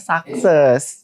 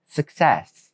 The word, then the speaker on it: success: Biasanya orang Indonesia ngomongnya sucses. Iya. Tapi padahal enggak ada yang perlu disak gitu kan. Iya. Benar. Benar. Benar. Benar. Benar. Benar banget. Benar banget. Sehingga pelafalan yang sebenarnya adalah repeat after me. Success. Suc. Success.